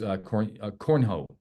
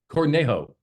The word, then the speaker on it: Cornejo: Am I saying it right? Cornhole? Zach? Okay. So that is not going to, I've seen that. That's awesome. Cornejo. Thank you.